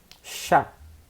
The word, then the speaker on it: chat: Mas a pronúncia é chá, a mesma do que você toma.